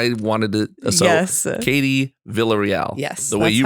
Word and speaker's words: Villarreal: so that's why i wanted to so katie villarreal yes the way you pronounce it yes that's how i pronounce it